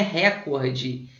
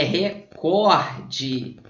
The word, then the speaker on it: recorde: muito a palavra recorde pessoal não é recorde é recorde ele bateu o recorde mundial beleza recorde é mesma